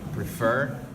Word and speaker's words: prefer: We have like prefer goes on the stress goes on the second syllable, and but I'm sure you know these.